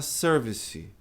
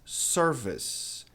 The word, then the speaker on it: service: Muita gente fala service. Pronuncia esse E no inglês americano, não é pronunciado, a não ser que seja uma palavra francesa, de outra origem. Né? Palavra inglesa mesmo, né? Esse E fica de fora. Então, não é service, mas service. Não é ser, mas é sir.